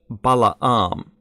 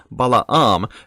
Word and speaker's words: Balaam: Normally we hear it as Balaam, or something like that. Technically it's Balaam, but this is one of those cases where a non-Hebrew pronunciation has become the standard.